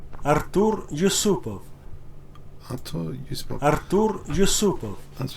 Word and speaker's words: Artur Yusupov: Yusupov, let's get pronunciation. Artur Yusupov.